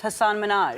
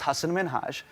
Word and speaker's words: Hassan Minhaj: everyone that says your name says Hassan Minhaj. Yeah, but the real way you pronounce it, and this is a big deal because my parents are here, it's Hassan Minhaj.